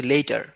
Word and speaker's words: later: লেট দেখো প্রোনাউন্সিয়েশনটা একটু খেয়াল করো, LATER যেটা এটাকে আমি বলছি লেটার, হ্যাঁ লেটার, ARTর মাঝখানে একটু চাপ দিচ্ছি লেটার, আর LAEER এটাকে আমি বলছি ল্যাটার, ল্যাটার, আর LEEER এটাকে আমি বলছি লেটার।